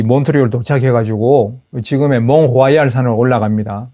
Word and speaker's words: 몬트리올: 몬트리올을 몬트리얼로 발음하는 거하고 롱게이를 롱게일이라고 발음하는 겁니다. 몬트리올 할 때 그 몬트 더하기 리얼, 마치 리얼 에스테이트 부동산 할 때처럼 리얼로 이렇게 분석을 해서 나름대로 분석을 해서 몬트리얼이라고 쓰는데 여기서 말하는 그 리얼은 이게 원래 리얼이 아니에요.